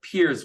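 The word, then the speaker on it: piers: I know some people may think PEE, but RS, but it's peers, like the right, the structure out into the bay or the water.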